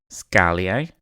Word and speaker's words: Actinotignum schaalii: do a quick recap so we pronounced it actinotignum Shi and if I guess if you're in the United Kingdom scalli but that was fun you know researching about that and finding out how to pronounce it so you pronounce it Shi it is primarily seen